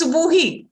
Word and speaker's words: Subuhi: It means it's Subuhi. It's Subuhi. It's Subuhi. It means a good morning.